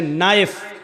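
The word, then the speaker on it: knife: जैसे इंग्लिश में नाइफ किसको कहते हैं, चाकू को, नाइफ के माना चाकू, लेकिन के लिखा जाता है, बोला नहीं जाता, वो साइलेंट रहता है।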